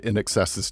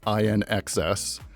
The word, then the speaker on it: INXS: band's YouTube video that pronounced the band in excess's name as INXS then in excess and then some weird amalgam of the two, which is something that